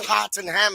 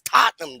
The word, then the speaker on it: Tottenham: it's tottenham i'm like no it's not hot and ham it's tottenham dog like get it straight